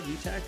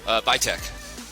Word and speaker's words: VITAC: Did I say it right? VITAC? VITAC. VITAC. I knew I was going to mess it up.